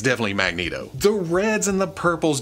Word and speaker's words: Magneto: that's doubly so because I didn't know you were supposed to pronounce it Magneto until the liveaction movies and that was that was over half my lifetime where I just read it and said magnetto in my head you know so it